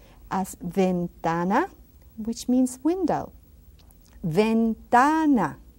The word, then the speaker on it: ventana: our alphabet letters so we can practice our pronunciation. Let's go to the last few letters that we have left is V, as ventana, which means window.